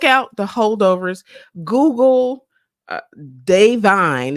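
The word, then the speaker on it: Da'Vine: Google uh, Davine. It's DA, but it's pronounced Day, but DA apostrophe.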